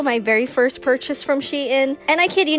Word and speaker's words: Shein: sheet in yes i actually googled how to pronounce that properly these are also my very first purchase from shein and i kid you not it won't be